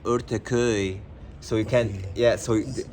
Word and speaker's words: Ortaköy: You have to say it Ortaköy, so you can Right, ortak.